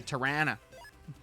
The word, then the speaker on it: Toronto: tyan a fake Tanna you got to say it correctly or people will get mad at me nobody is ever quite so mad as as torontonians when you don't say tyan oh no I guess